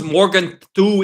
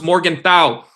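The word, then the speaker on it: Morgenthau: Come learn who Hans Morgan thu is. That's not how you pronounce it. It's Hans Morgan thou.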